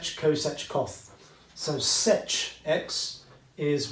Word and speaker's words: coth: Yeah, everyone says coth, everyone I think says cosech or cosech, okay, and everyone says sech, okay.